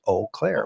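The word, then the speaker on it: Eau Claire: typewriter uh and it said that the proper pronunciation was O Clair which it is it's French it's like Farm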